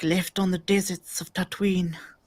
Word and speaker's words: Tatooine: He's like, left on the deserts of Tatooine. Tatooine, two syllables. Yep, Very good. Tatooine. It's like Halloween.